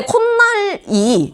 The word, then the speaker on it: 콧날: 니은을 덧내서 발음을 해. 근데 콧날이 니은 첨가가 일어날 환경인가?